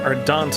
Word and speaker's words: Ardent: Okay, so Ardent is how you pronounce that.